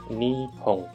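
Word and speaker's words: 日本: Ini kanji yang artinya Jepang, dibaca Nihon.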